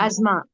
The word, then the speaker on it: asthma: It's Asthma. asthma. It's not asthma, it's asthma. How do you pronounce this one?